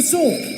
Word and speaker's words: sword: In sword, we don't pronounce the w the w sound.